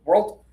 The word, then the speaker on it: world: If you try to do it as one syllable, world world world you might say this one by accident, right? So, go with the two-syllable version.